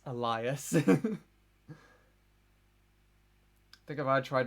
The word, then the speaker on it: Elias: That's how Leanne fucking pronounces alias. It's Elias.